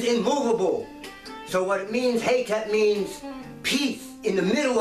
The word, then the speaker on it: Hetep: And as I always say, Hetep, Hetep, not Hotep. If you look at the way the word is spelt in what they call hieroglyphics, the Metu Neter, it starts with the He. Hetep.